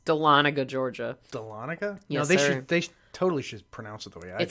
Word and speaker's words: Dahlonega: Roswell they said Roswell and Dahlonega and that's a Lonnegan is that what it is yeah he's from Louisiana so let's go ahead and give him a break but yes it's Dahlonega Georgia yes they totally should pronounce it the